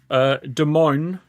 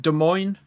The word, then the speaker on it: Des Moines: Des Moines, is that how you say it? Des Moines.